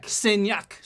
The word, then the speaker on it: Saignac: Saignac.